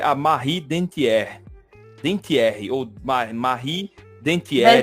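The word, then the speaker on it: Dentière: de uma mulher né que é a Marie dentier dentier ou Marie dentier dantier dantier dantier dantier né dantier é a a pronúncia né Zilma Pois é e hoje a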